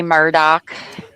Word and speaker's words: Murdaugh: Murdo, sir. And I know they say Murdoch. That's what Alex says, but I don't make no sense.